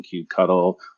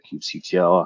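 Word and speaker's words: kubectl: interacting with kubernetes cluster using Cube cuddle or cube CTL however you wish to pronounce it um you uh you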